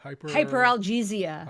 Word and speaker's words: hyperalgesia: How do you pronounce it? Hyperalgesia.